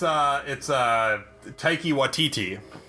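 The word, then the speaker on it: Taika Waititi: I'm not even gonna try to pronounce that name. Oh, it's Taiki Waititi.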